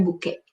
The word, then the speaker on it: bouquet: esto se llama bouquet la formación del bouquet se escribe así a ver para que se acuerde formación del buque ya luego lo que